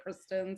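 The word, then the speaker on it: Chrisjen: It's spelled like Christian, but they say it Kristen.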